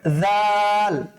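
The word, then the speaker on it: ذال: তারপরে হচ্ছে স্যার জাল জাল উচ্চারণ করার সময় ফা এর কাছে ফিরে যেতে হবে সাটা ঠিক যেখান যেখান থেকে উচ্চারণ করেছিলাম জাল টাকেও চেষ্টা করতে হবে কি ঠিক সেইম সেম এক কালার জায়গা থেকে উচ্চারণ করার জন্য বুঝতে পেরেছেন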